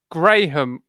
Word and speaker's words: graham: a great it's a Graham Graham as in the name oh Graham oh graham